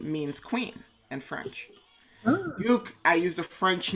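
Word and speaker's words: Ducque: So Duke is spelled D-U-C-Q-U-E.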